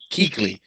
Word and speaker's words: Kuechly: Keekley.